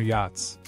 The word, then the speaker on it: yacht: As these billionaires saunter across the 7 seas on their yachts, they enjoy the journey the same way they pronounce the word, yacht, with the sea being as silent as the discretion of their Swiss bank account managers.